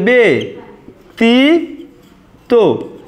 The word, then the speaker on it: ব্যতীত: দেখো এটা তোমরা মনে রাখবে যে ব্যতীত উচ্চারণটা এমন হবে বে তি তো, এটাই আমাদের ব্যতীত এর সঠিক উচ্চারণ। জফলা যদি শব্দের শুরুতে থাকে তাহলে কিন্তু দ্বিত হয় না, তাহলে আমাদের ব্যতীত এটাই কিন্তু সঠিক উত্তর।